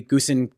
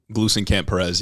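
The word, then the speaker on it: Gluesenkamp Perez: like uh Marie uh I always get her name wrong, but Marie Gusen Glucen Camp Perez. Yeah, Lucen Camp Perez.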